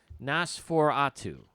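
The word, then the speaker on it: NOS4A2: And so it's Nosferatu. Yeah. So it's I believe the way you pronounce that. We've tried 15 times, but go ahead. Yeah. So it's basically a license plate thing.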